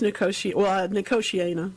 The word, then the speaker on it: Nicotiana: Number one, is it pronounced Nicotiana? I don't think I've ever heard it pronounced. Yeah, it's Nicotiana, yeah.